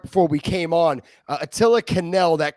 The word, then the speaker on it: Quesnel: I was trying to hit the Q, but no Q needed. It's Quesnel.